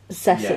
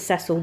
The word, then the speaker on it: Cecil: I know in the States people pronounce Cecil. Yeah. We pronounce it Cecil, they pronounce it Cecil.